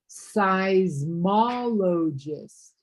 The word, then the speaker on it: seismologist: Seismologist.